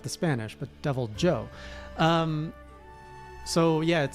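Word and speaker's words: Deviljho: Devil Joe. Not Devil Ho, by the way. Not pronounced like the Spanish, but Devil Joe.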